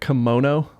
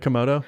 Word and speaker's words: Komodo: People tore me up in the comments on my video about that because they all thought I said it like kimono, like, you know, like the thing that you wear.